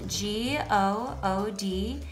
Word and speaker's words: good: we have is spelled g-o-o-d and it's pronounced good so here o-o said ooh like bloom and hero o says uh like good and good is the